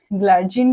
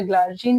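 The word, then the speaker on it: glargine: आता है आपके पास ग्लार्जिन के लिए या ग्लार्जिन के लिए, जो भी आपकी प्रोनाउंसिएशन आप करते हो दोनों सही है, और डिटरमीर में आपके पास लेविमीर आती है।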